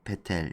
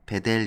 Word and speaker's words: 베텔: 해서 베텔 로 갑니다 베텔 여기 이제 벧엘 이라고 서해는 이 패들 베텔 이제 히브리어 발음이 니까 이걸 한글로 표기 하면서 조금씩 차이가 있는데요 베텔은 히브리 어 어